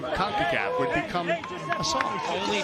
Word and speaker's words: CONCACAF: And they're doing it to Concafa. Who would have thought a mispronunciation of CONCACAF would become a song?